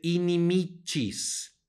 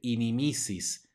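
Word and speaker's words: inimicis: renglón el renglón Perdón dice inimichis nuevamente suena como Che porque está seguida de una y no se dice inimisis sino inicies luego siguiente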